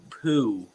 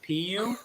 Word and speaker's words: Poo: It's Poo, not Pu. It's Poo, like Winnie the Pooh.